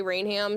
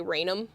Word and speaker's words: Rainham: Some people do say Rainham, some people say Rainom. So, you'll get a mix.